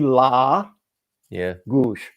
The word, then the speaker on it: Lagos: If you have a standard, the standard is penultimate syllable, 2 syllables. Penultimate would be the first one. Yes. First syllable vowel is almost always, if not always, the long form. So it's going to be la, gush, la gush.